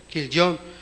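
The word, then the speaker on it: כליון: otro hijo le pusieron kilon así se pronuncia en hebreo killon y significa dolor desfallecimiento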